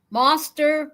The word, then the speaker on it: Moster: Moster rhymes with toaster.